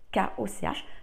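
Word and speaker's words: Koch: k o C H c'est la prononciation allemande si vous la prononcez à la française c'est coche je suppose mais voilà le système de corps donc kooch donc il existe astrotème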